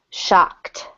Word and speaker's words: shocked: And number 10 is shocked. Shocked. ED ending sounds like a T on this one.